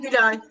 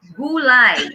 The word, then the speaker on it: Gülay: This spelling is pronounced in our country gulay.